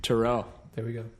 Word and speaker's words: Teruel: now there we go what's your last name Terrell yeah I was like right here we are